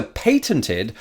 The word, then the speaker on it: patent: Moreover, it was later patented by the National Association of Real Estate Boards, and as such can legally only be used by its members. And yes, I do pronounce it patent. Live with it.